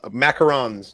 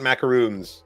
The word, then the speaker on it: macarons: I'll macarons, not macaroons.